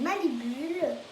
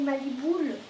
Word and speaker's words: Malibull: C'est Malibule ou Maliboule. Je pense que c'est Malibule parce que en fait elle dit Malibule.